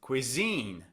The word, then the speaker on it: cuisine: It's on the second syllable.